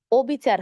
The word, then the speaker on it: অবিচার: কিন্তু অবিচার হবে না কেন বলুন তো? কারণ এটি একটি নেতিবাচক শব্দ। নেতিবাচক শব্দের ক্ষেত্রে যখন দেখবেন শুরুতেই কি অধ্বনি আছে, তখন কিন্তু অধ্বনির উচ্চারণ অয়ের মতো হবে, বিবৃত উচ্চারণ হবে। যেমন অবিচার, অনিয়ম, অস্থির, অমূল্য,